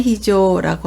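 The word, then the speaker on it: 非常: 비상이라고 읽을 때는 히조라고 하죠.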